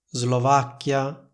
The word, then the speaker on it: Slovacchia: regola scritta per cui la s seguita da l si pronuncia Z per esempio in italiano diciamo Slovacchia Slovenia Islanda Oslo lingue slave come vedete in tutte queste parole c'è la combinazione s + l che viene pronunciata con una s sonora simile a quella delle parole rosa e riso Comunque sia lo stesso